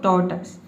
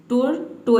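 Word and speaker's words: tortoise: इसको पढ़ना है आपको टोटस टोटस ठीक है कई स्टूडेंट इसको पढ़ते हैं टोटस टोर्टो इस ठीक है टोर्टो नहीं पढ़ना आपको बोलना है टोटस देखिए आसान कर प्रोनाउंस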